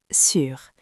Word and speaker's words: sur: Le mot est sûre. Je répète très lentement sûr s U r. Attention à la prononciation, c'est le son U.